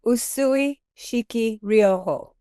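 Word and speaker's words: Usui Shiki Ryoho: now in the USUI I can't pronounce it pronounce it for us oh usui shiki rioojo tradition I have a raiki masters and I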